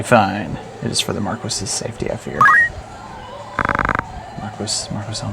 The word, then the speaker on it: Marquis: The order can help me rescue the Marquis. It must. By the way, I would have said Maris, but as I realized in Final Fantasy 12, they pronounce it Marquis.